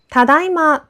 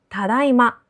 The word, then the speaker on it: ただいま: するときに「ただいま」を使います。ここで注目すべき点は、音程のアクセントです。「ただいま」とは「今